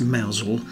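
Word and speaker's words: Mousehole: started now even though the village is pronounced malesle I do love these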